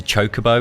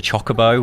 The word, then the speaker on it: chocobo: I remember when Final Fantasy X came out, and I realised that it's pronounced a chocobo instead of a chocobo, which blew my mind.